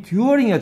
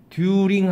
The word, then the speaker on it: during: 듀어링이야 제발. 듀링 하지마. 듀링이라는 단어가 있겠지만 일반적인 발음은 듀링이 아니고 듀어링입니다.